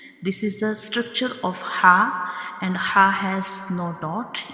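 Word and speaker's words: ح: And it is also called throat letter because it is pronounced from the throat. Our throat has three portions: bottom, middle and upper portion, and ha is pronounced from the middle part of the throat. Ha is pronounced from the middle part of the throat, like ha.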